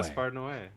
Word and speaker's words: Gaspar Noé: Gaspar Noé.